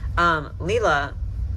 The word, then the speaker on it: Leela: I think every time I've ever mentioned this doll in a video, I've gotten her name wrong, and we're gonna get it right this time and call her Leela. Leela, I really wanna like, I don't know.